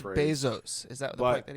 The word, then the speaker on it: Bezos: Gosh, it's pronounced paraphrase. Bezos.